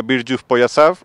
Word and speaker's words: Bir Juft Poyafzal: bueno el corto como el título es en ubeo se pronuncia birju poyas o par de zapatos